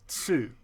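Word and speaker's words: つ: Like when the T plus E syllable is actually chi, and then the T plus U syllable is tsu.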